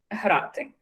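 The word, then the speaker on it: грати: And there's a H, which is kind of close to something like host. It's between G and H. It's quite difficult to pronounce. But it makes a huge difference because we have two words, for example, grati, hrati. So just one little sound makes a big difference.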